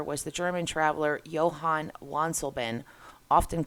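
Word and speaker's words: Wansleben: the German traveler Johann wansobin often called father van sled by the French in English because the letter W in German is pronounced like a V sometimes his name has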